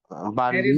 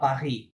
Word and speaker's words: Paris: লাস্টের লেটার তো সাইলেন্ট থাকবে। আ পাহি কি হবে? পাহি, Paris, নট প্যারিস।